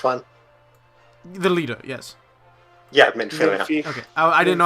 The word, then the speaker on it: Minfilia: Yeah, Minfilia. Minfi. Okay, I didn't know how to pronounce it, that's what I was questioning.